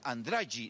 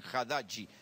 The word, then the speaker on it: Haddad: Los medios locales han hecho notas y los nordestinos dicen Andrade, no dicen Haddadi, ni siquiera lo pueden pronunciar bien.